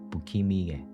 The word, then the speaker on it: 不気味: In Japanese, it's pronounced as Bukimi, meaning things that are mysterious, eerie, or bizarre.